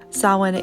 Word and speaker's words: Samhain: night i taught a sawin inspired yoga and meditation class through my patreon is a gaelic word that looks like this but it's pronounced like this sawhin is an ancient celtic